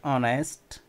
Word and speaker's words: honest: at OU n est honest these words seems to be consonant because the initial sound is yet but it is silent in pronunciation so the second the